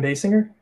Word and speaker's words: Basinger: so totally fine dylan kim basinger is that how it's said yep that is correct kim basinger facing your